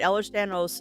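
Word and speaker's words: Ehlers-Danlos: Eller Stanos syndrome.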